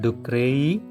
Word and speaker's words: ducreyi: The term ducreyi has the pronunciation cray.